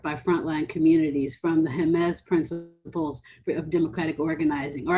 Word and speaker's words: Jemez: been set forth by frontline communities from the jemez principles of democratic organizing or actually yesterday i learned because i met someone from jemez that is pronounced heinz principles but of democratic organizing the um environmental